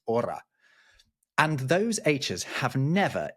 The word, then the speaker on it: hora: their word for it, even though there is an H in there. It's hora.